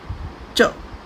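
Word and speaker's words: ㅉ: इसके अलावा एक हमारे पास कॉन्सोनेंट और है, डबल कॉन्सोनेंट सांगजियत, जिसको हम प्रोनाउंस करते हैं च। ये भी टेंसिफाइड साउंड है, च।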